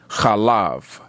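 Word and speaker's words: חלב: for milk which is often pronounced in the Hebrew as we're taught it as kalav Orab and as we know B and V are the same word uh or the same letter and even in Hebrew there's no change in that letter it's either pronounced b or V so milk kalav as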